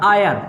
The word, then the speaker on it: heir: और ये होता है HEIR आयर, इसमें H साइलेंट होता है, इसका मतलब होता है वारिस।